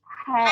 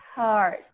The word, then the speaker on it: heart: Ini bacanya Hat. cat. Ya, ini bacanya Hat. Heart. aduh, harus panjang A-nya. Gimana? Panjang dan bundar. Jadi di hati itu bahasa Inggrisnya adalah heart.